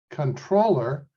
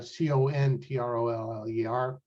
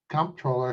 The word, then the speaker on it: comptroller: next up is the comptroller of public accounts it's actually pronounced controller uh c-o-n-t-r-o-l-l-e-r why don't we just